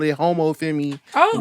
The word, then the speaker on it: Homme Femme: The proper French way to pronounce it is femme. Like that's how French people say it. But I've heard everything from homie femme to homie femme to even